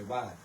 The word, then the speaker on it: Whiteville: Now, when you say that word and you're from that area, you don't say Whiteville, you say White. So, that's so that's how you say it.